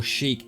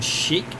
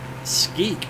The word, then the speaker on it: Sheikh: I was pronouncing it Skeek yesterday because that's what the game, inside the game, was labeling it. Outside on the main map it's S-H-E-I-K-H, and I looked at Google and that's exactly how it's meant to be pronounced.